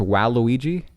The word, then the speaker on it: Waluigi: uh ghostly ghostlin himself I learned uh it's pronounced Waluigi I believe is am I am I corrector it's wow Luigi hold on utterly disappointed in in what in